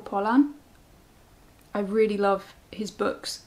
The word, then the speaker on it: Pollan: and i really like i always say his name wrong it's michael pollan i really love his